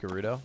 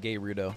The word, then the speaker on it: Gerudo: I hate to say it but it's actually pronounced Gerudo I'm calling it gay rudo until I die oh there you go to